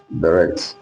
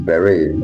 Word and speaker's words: beret: What usually people usually pronounce as beret barrett. Okay, it's not beret, it's beret. All right. That t is totally silent and uh followed by a big one. All right. Betray not b. It is pronounced as ber.